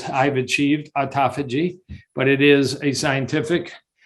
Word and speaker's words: autophagy: A term I want you to know, if you don't know, is autophagy. Some people pronounce it autophagy. Auto means self. Phagy means eating.